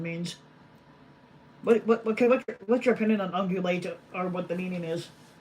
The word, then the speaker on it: ungulate: What's your opinion on ungulate or what the meaning is? Ungulates? Yeah, it's spelled. Yeah, it's one of the words up here. Ungulate. Sounds like ovulate.